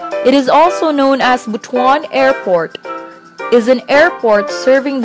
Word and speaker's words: Butuan: the main Center of kaga is bhan City pronounced as bhan and not buhuan first class highly urbanized City in the southern